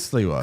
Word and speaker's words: Sliwa: It is Sliwa.